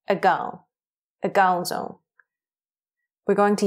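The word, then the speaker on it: အကောင်းဆုံး: A gaozong mesui. Well done. You'll notice that a is very short and weak and sort of leans or disappears into the next syllable. A gao.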